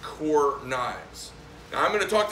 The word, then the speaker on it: Kaur: But it's pronounced Kaur Knives.